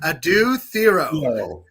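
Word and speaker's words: Adou Thiero: And let's all say it right together: Adu Theoro.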